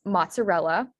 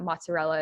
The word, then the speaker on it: mozzarella: So I haven't put the word on the screen, but so the word is mozzarella. And so some of you might know how to spell that, but if we think about it from